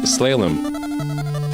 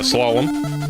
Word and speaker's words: slalom: or if I'm was Salem. Mhm. Which is that skiing game. Mhm. Yeah. Slalom. And uh he said it right. And then uh well we we can debate that. It's it's slalom.